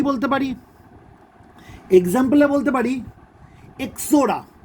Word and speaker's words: Ixora: এক্সাম্পলে বলতে পারি এক্সোরা। এর স্পেলিংটা হবে IXORA। এই আইটা কিন্তু সাইলেন্ট থাকে, উচ্চারণটা হবে এক্সোরা। ঠিক আছে?